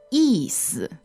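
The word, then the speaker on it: 意思: And then the next part is 意思，意思。 4th tone and neutral. How do we spell that in pinyin? Y-I, 4th tone, and S-I, neutral tone. 意思.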